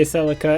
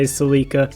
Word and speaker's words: Celica: But either way, Americans say Celica and Canadians and a couple other countries say Celica. But it's really up to you, of course, like I said before.